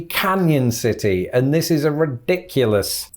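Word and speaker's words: Cañon City: into a kind of it gives it a y sound right so i think instead of canon city or canon city it's gonna be canyon city and this is a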